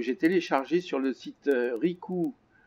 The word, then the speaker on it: Rikoooo: téléchargé sur le site ricou points comme les coups ça s'écrit r&i k o o o o c'est à dire 4 ou à la suite - comme et donc